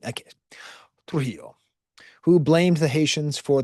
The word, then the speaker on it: Trujillo: I think it's Trujillo. Because it's two L's, so it's yo, right? Okay. Trujillo, who blamed the Haitians for the massacre, who was a propagandist who helped to change the narrative.